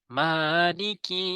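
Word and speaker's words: مَٰلِكِ: এবার 3 নম্বর আয়াত, মিমে টান দিতে হবে প্রথমটি, মালিকি ইয়াউমিদ্দিন।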